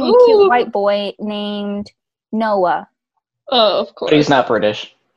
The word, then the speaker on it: Noah: He has a monosyllabic name. So boring. Automatically, yeah. Just garbage. Noah? Isn't that two syllables? Noah? Is it one? Noah. Oh my gosh, you're right. Two. I would say two. Yeah, it is two.